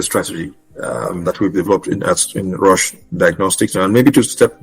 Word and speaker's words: Roche: We do have a 10-year strategy that we've developed in Roche Diagnostic.